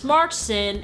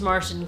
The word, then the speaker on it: Marsden: there's just so many similarities both has James Markson as a sidekick Marsten James Marsden I'm sorry I said his name wrong James Marsden both has driving scene with